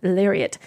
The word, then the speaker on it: Lariat: does right and it's only available on the larat larat lariat Lariat I don't know why you pronounce this Lariat on the lariat or XLT which are the